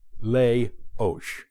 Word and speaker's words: Leoš: Janáček's name is notoriously mispronounced by non-Czechs. His first name, Leoš, is easy enough, Leoš.